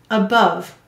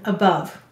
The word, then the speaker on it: above: is above the lamp above how many syllables in above two and do you hear a schwa vowel in above above maybe even two of them well you will say